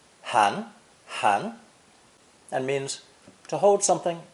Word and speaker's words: 含: This character is pronounced second tone, han, and means to hold something in the mouth.